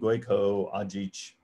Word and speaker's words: Gojko Adzic: One other recommendation that I think is often overlooked, I really love the book Impact Mapping by Gojko Ajic. That is spelled Gojko Adzic.